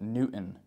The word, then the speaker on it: Newton: Town name we have Newton this one can be tricky uh you can imagine trying to say it n t i n Newton thank you very much